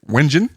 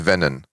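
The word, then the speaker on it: Wengen: and his sister to wenin is it Wen in Switzerland pronunciation of it's probably venan it's it's venon yep where he would play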